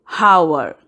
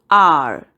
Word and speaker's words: hour: And here, H is silent. We don't say hour. We say R.